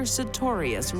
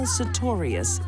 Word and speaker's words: Sartorius: I think the best thing to be learned here is never marry a woman whose last name rhymes with notorious.